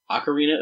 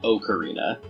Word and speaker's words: Ocarina: From Legend of Zelda, Ocarina of Time, this is Gerudo Valley.